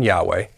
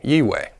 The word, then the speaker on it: Yahweh: we have already revealed some of the possible pronunciations of the tetragrammaton a couple that we may agree with one being Yahweh and the other being ye way if you have watched our teachings you may note that we do favour Yahweh in pronunciation at least for now does this